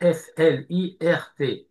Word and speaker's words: flirt: Alors le flirt revenu de l'anglais s'écrit F L I R T et ça se prononce flirt.